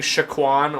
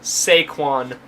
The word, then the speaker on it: Saquon: I also want to clarify that I've been saying Saquon Barkley's name wrong this entire time. I was saying Shaquan or something like that, but it's Saquon Barkley.